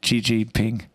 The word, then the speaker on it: Xi Jinping: Glory be to Xi Jinping.